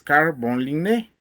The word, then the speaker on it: Carl von Linné: Carlos Linneo es el nombre en español tal y como se le conoce, pero si lo pronunciamos como se debe de leer o escribir, es Carl von Linné.